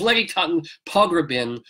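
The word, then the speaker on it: Letty Cottin Pogrebin: attended the guest was Lettie cotton Pogrebin I'm nobody can pronounce that right it's lady tongue Pogrebin who helped co-found MS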